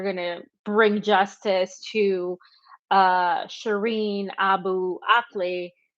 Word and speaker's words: Shireen Abu Akleh: to bring justice to Shireen Abu Akleh, he didn't say her name right, and it sounded like he said Shireen Al Qaeda or something.